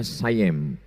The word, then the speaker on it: Siam: Dan ketika Kedah, Kedah sekarang itu Malaysia, dijajah oleh Siam, tulisannya Siam, orang Barat membacanya Sayem.